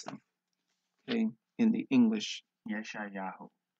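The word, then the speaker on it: ישעיהו: words, as some may find it difficult to pronounce them. Okay, in the English. Yeshayahu. Yeshayahu.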